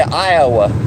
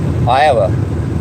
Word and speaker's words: Iowa: I mean, I say Iowa, and it's like, actually, you pronounce it Iowa. You know, it's like, you have to like fast say it.